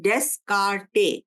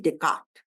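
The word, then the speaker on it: Descartes: deck Francis डे काट इसको spell कर डेस काटे लेकिन प्रोनाउंस करते हैं डे काट फ्रांसिस डे काट ने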